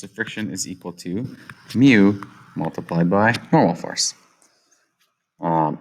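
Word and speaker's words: μ: higher coefficient of friction this is pronounced if you want as mu it is a greek letter it's like a u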